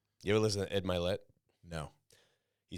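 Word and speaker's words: Mylett: And he was talking about a podcast how he couldn't pronounce his name correct, but he liked the voice so much that he left it because it's actually Milet.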